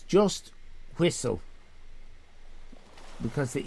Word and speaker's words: Whistl: It's WHISTL. No E. Whistle. I'm trying to pronounce it without the E.